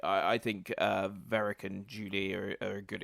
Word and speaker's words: Varrick: And obviously also Venick, am I pronouncing Venick right? Varrick with an R.